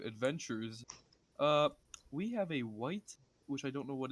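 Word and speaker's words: wight: context what is a white a white dead don't you play rpgs if i forget what a white is i've never well it's not spelled white like the color it's just pronounced like that looks like that yeah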